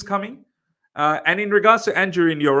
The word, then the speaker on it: Anjorin: Anjorin. I was going to say Injurin. Yeah, that's probably the right way to pronounce his name.